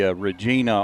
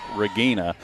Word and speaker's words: Regina: We've been calling Ricky Regina all week, and I was corrected this week that his last name's pronounced Regina. Okay.